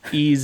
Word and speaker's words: Ys: it looks like yes I think it's ease ease is the way they pronounce it e that company also